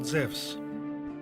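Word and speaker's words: Ζευς: wrong english translation because correctly he is called zevs in the greek language e and u is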